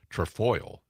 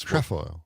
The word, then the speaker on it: trefoil: The accent's on the second.